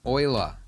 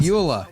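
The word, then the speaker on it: Euler: all right cool man oila is how we're supposed to pronounce your name but you're dead so you li I'm I'm going with Ula it makes more sense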